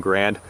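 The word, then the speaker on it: Garand: had issued M1 garens I'm sure somebody's going to yell at me at some point for saying M1 Garen instead of M1 grand the guy name was Garen but the military pronunciation was Grand so I don't care how you decide to pronounce it I'm going to pronounce it Garen because that's the guy's name all now as I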